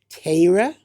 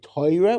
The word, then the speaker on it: Torah: Do you say Tayra? That's what a lit a true Litvak would say, Tayra. Do you say Toyra, which is kind of the Yeshivish pronunciation, but that's really Polish. Do you say "Taurah"?